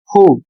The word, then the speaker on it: who: जैसे शब्द है WHO, WHO, इसमें W साइलेंट है।